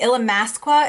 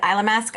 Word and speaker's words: Illamasqua: been I have been using the Illamasqua if that's how you say it I was calling it ila mask I like saying eylem ask better than Allah mask wa but I'll say Illamasqua for the video because that's how